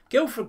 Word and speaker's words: Guilford: And Guildford, or off, not say with the, not with the D, Guildford Courthouse, here we are, let's get that loaded, also spelt without the D, was in real life